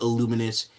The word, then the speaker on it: Illuminous: Am I pronouncing it correctly? Yes, that is Illuminous.